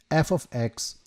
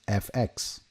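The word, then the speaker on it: f(x): F followed by x in brackets is pronounced f of x or sometimes fx.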